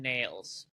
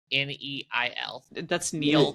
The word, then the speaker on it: Neil: Have you been mispronouncing Neil your entire life and just found out now? I thought it was nail.